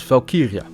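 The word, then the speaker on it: valkyrja: of War in Old Norse Valkyrie is pronounced as falkiria meaning dead body on a battlefield Chooser While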